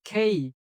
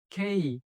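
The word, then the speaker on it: K: এরপরে এটাও একই রকম, খেই। খেই।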